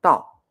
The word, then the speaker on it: 倒: 那这个我们念 4 声的，我们这个念道，道，那这个我们念岛，岛。